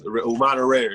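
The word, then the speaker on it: Umana Reyer: The team you play for, and how do you pronounce that team name? Venice. Umana Rare, yeah, Venice.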